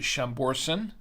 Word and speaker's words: Chambourcin: pronounce it but uh I think here in the states it's pronounced chamberson I believe so I've